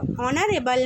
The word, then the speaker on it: honourable: Next দেখো HONOURABLE, অনারেবল ম্যান। আচ্ছা অনারেবল মানে একজন সম্মানীয় ব্যক্তি, তাহলে এখানে এইচের উচ্চারণ আমরা সেম, দেখো এইচ না পেয়ে ও আসছে, একটা ভাবেলের মতো উচ্চারণ, তাই এখানে অ্যান হবে।